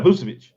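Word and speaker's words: Vučević: Yeah, Vucevic.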